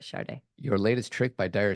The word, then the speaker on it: Sade: I know it's Sada, or DE, but she pronounces it Sade.